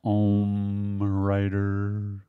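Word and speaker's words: OmmWriter: by word o writer you have to say it like that o writer because it's supposed to be like Zen it's like Oh mm wor ter then you've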